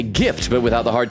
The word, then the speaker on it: GIF: Gift stands for graphics interchange format, not giraffic. So, it's hard. It's a hard G. That's my hill to die. I agree with you, Magpie. I don't care what the inventor of the gift says.